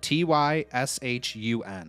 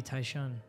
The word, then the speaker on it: Tyshun: How do you spell it? T-Y-S-H-U-N. It'd be Tyshun.